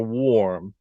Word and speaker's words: warm: see you've got for for warm you've got w and then you've got this oh sound with this dot dot this is showing the r sound coming in or and